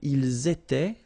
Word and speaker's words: ils étaient: thing here, little liaison, and then ils étaient, liaison as well, elles étaient, alright?